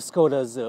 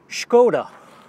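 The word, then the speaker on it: Škoda: brand name is actually skoda because it has this little thing on top of the s and that's how you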